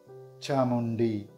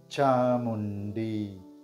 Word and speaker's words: Chamundi: this is how we pronounce the name chamundi chamundi saying it slowly now chamundi presenting the meaning of this name Slayer of